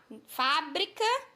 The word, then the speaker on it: fábrica: No caso aí, fábrica, né? Deixa eu botar aqui meu mouse. No caso aqui, ó, fábrica. Na sílaba fá, nós temos o acento agudo e pronunciamos com mais intensidade.